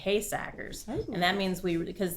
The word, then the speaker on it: Heesacker: The name Heesacker is Dutch, and the Dutch pronunciation is Heesackers.